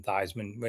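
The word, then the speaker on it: Theismann: I see him yeah he was originally called thevan and made it rhyme with high man thyman he was at Notre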